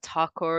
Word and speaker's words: Thakur: My name is Thakur, is how you say the last thing, and just so we